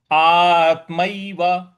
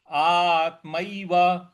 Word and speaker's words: आत्मैव: म के ऊपर ए की मात्रा है। ए की मात्रा को यहां पे जब हम संस्कृत में पढ़ते हैं तो आई बोलते हैं, ए नहीं बोलते हैं। तो ये आत्मय व नहीं होगा, ये आत्मय व होगा। तो इसको ऐसे बोलेंगे आत्मय व।